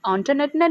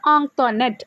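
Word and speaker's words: Antoinette: അപ്പോൾ എല്ലാവർക്കും കുഞ്ഞിച്ചിരുതയ്ക്ക് മനസ്സിലായി കുട്ടികളായാലും ടീച്ചേഴ്സ് ആയാലും ആൻറ്റോനറ്റിൻ്റെ നെയിമും ഇതുപോലെ മിസ്പ്രൊനൗൺസ് ചെയ്യുന്നുണ്ട്, തെറ്റായ രീതിയിലാണ് ഉച്ചരിക്കുന്നത് എന്ന് മനസ്സിലായി.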